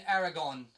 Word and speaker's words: Aragorn: So from here I can actually bring in Aragorn, please pronounce like that.